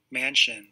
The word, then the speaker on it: Manchin: know to be having these uh these different pronunciations for their names let's hear this mansion mansion okay anyway so joe manchin uh passed by unanimous consent meaning no senator